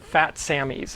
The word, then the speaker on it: Phat Sammy's: relatively well-known tiki bar called fat samies and that's spelled pH a t and then samies s mm y apostrophe s so um planning on trying to get a table over at fat Samy like either Wednesday or